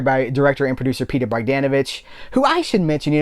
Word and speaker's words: Bogdanovich: Like someone's like, you're saying Bogdanovich's name wrong. You have to put the emphasis on Bogdanovich. If you don't say Bogdanovich, you've screwed up his name.